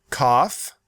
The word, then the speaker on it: cough: All these words have the letters OUGH. But those letters represent different sounds in each word. Listen. though through cough rough plough There are many pronunciation rules and many exceptions to those rules.